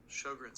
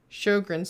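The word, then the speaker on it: Sjögren's: to make sure i say it correctly syndrome sjogren's syndrome sjogren's syndrome sjogren's syndrome don't ever be afraid to google how to pronounce things because i do it i am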